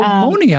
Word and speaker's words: Monia: Oh, Monia. I didn't read that very closely. Monia. Am I saying it right?